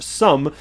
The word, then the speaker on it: XUMM: their Sum app, XUMM, and it's pronounced sum, because they want to